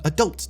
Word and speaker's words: adult: film and got an adult ticket. See, the rest of that sentence Brits might have gotten along with, but the accent on the wrong syllable just throws adult off.